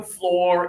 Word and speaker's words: floor: This next one is confusing also because the oo usually means ooh like food but not today. In this one floor is put up one finger please touch your nose and your lip.